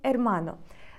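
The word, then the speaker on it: hermano: з родом іменника тому якщо ви хочете сказати твій брат це буде звучати як ту арману to armano Зверніть увагу що в іспанській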